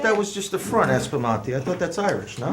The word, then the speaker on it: Aspromonti: Aspromonti! Get your Come ass on, out! Joe! I even Woo!